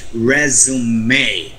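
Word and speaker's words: résumé: a resume you say resume okay and s should be pronounced uh like a z as as in zebra resume so you have to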